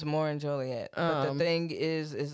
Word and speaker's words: Joliet: ask for it but if you pronounce the city of Joliet incorrectly specifically if you call it Juliet that is a I